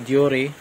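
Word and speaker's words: Deore: ang ikinabit kong brake, Shimano Duri M600 100 or M6100, yun ang tamang pagka-pronounce ng tama na M6100 Duri.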